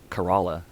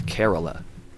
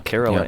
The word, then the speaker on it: Kerala: one strain like um I finally learned the pronunciation after one of my listeners on our podcast corrected me I was calling it carala but it's k e r a l a and it's carala carala somebody from carala India messaged me and